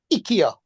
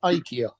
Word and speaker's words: IKEA: to find rying like Ikea decided all of a sudden that they wanted to be called ikia instead of Ika and nested they want